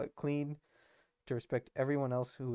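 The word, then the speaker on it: Kleene: Now, there I'm going to define an operator called the clean star or clany star. Fun fact, the guy who invented this would pronounce his name Clany, but his son was like, yeah, he made that up.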